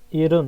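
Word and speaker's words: 일흔: তারপর 70কে 일훈, ইলহুন না, 일훈, ইরুন একসাথে উচ্চারণ হবে। রিওটা ইরুন। এখানে গিয়ে হিয়তের উচ্চারণ ইরুন।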